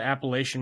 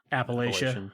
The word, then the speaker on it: Appalachia: So, I mean, ultimately, when it comes to things like, did you know the Appalachian Mountains? It's not pronounced Appalachia. It's Appalachia. I don't believe you.